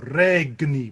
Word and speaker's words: regni: so we've got to remember that pronunciation change from what you might be used to regnie with a really really hard g in the middle of it um this section just